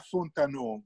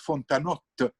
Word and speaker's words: Fontanot: Mais ça, on ne doit pas dire Fontaneaux, il faut dire Fontanotte, parce que c'est un nom de Vénétie, de Frioul. Hein? Et donc, on prononce Fontanotte, la T finale.